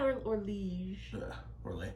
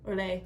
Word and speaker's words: Orlais: we've never had Orlege. Orlais, yes, thank you. God, I love those games, but I can never pronounce their...